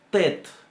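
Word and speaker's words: ט: Primero, la letra T la podemos pronunciar solamente con la punta de la lengua. La tet en realidad se empuja toda la lengua hacia adelante, hacia los dientes y la encía para pronunciar la letra. Tet, tet.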